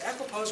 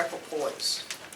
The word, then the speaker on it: equipoise: if you're an equipose is it equipose or equipoise po it's Poise see if you don't